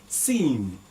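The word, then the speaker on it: سين: Okay, the next is, now very simple to pronounce, Sin. It's smiling.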